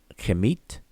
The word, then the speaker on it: Kemet: The next one is also transliterated as KMT, and we pronounce it as Kemet, but it doesn't mean the same thing.